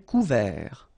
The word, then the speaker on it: couvert: Un ciel couvert. Final T not pronounced.